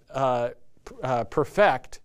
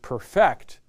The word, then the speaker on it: perfect: and by the way when you say this perfect as a verb make sure you emphasize the second syllable you perfect a security interest a